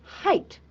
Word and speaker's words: height: again what is it height height again G and H these are silent okay we can only hear the sound of h e i and T So G and H